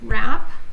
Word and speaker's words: wrap: gnawed on the cheese okay ignore the W wrap the cloth on your